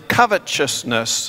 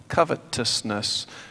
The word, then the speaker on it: covetousness: corrected me this morning I was pronouncing covetousness and she told me no covetousness and I appreciate that